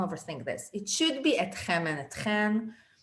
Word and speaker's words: אתכם: in Israel would say otchem and otchen. Don't overthink this. Etchem is like a news broadcaster thing. Etchem is the right way to say it, but everyone says otchem. So you can use either.